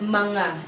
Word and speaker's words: mga: of something so we always add this word manga mga i think i mentioned this one in my first lesson it is pronounced as ma so it indicates a plural